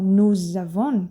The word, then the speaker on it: nous avons: Quando eu junto S com a seguinte palavra que começa com vogal, que no português nós fazemos também com mais ou menos. Aí, ó, mais ou menos. No francês eles fazem isso, o nome disso é liaison. E aí, então, nous avons, tá?